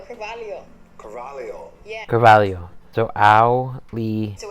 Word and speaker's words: Auli'i: So it's ow, like you stub your toe, Lee like Bruce Lee, and then you add another E. So it's Auli'i. Auli'i.